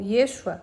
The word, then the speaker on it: Yeshua: do final desse livro yua ou Yeshua pronunciado com ênfase na segunda sílaba era o nome real